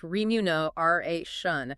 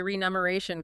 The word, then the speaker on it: remuneration: So, people mispronounce it as renumeration as if it shares a root with numeral or numeric. Oh, that makes so much sense. Yeah, there is no num in remuneration, but your brain forcefully